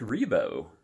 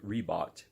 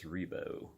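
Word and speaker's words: Ribot: other songs is Mark rebo if I'm pronouncing that correctly it looks like Reebok but I believe it's rebo I could be wrong if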